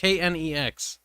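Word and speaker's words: K'Nex: And it's just Knex. Wow, okay. I didn't know how to spell it.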